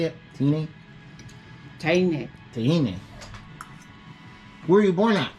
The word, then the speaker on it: Teine: Teine.